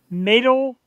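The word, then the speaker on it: Meytal: I make sure I say her name right matal matal Cohen are you familiar with her at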